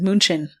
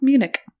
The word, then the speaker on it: Munich: we got upper Bavaria near I almost said munin munin or Munich oh Munich okay so we are going to